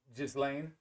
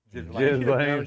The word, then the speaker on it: Ghislaine: I don't even know how to pronounce her name. Ghislaine Maxwell? Just Lane. Ghislaine? Is that how you say it? Ghislaine. Ghislaine.